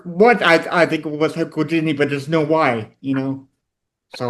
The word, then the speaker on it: Hecojeni: But we have Jeff and Heath from Hecojeni. I Yep. finally pronounced that correctly because I went back.